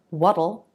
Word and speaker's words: what'll: For what'll, it does feel like you're adding an extra syllable. And just like with it'll and that'll, you're making a flap T followed by dark L.